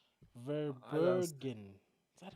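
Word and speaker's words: Verbruggen: I just Verbergen. Is that right? Vabrugin. It's Vabrugin.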